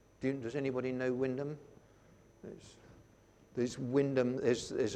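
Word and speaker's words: Wymondham: Wyndham in Norfolk do you does anybody know Windham knows this Windham is there's a an medieval church they're called Windham Abbey it's it's spelt Y monde ham but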